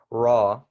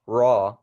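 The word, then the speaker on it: ر: here we're saying ra so it's just like saying the word raw the the the word raw but we're just making the r sound more heavy you you see what I'm saying ra ra like that okay and for the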